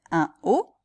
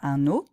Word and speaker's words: un haut: a beaucoup plus donc on va dire un haut pas un o en hausse pas en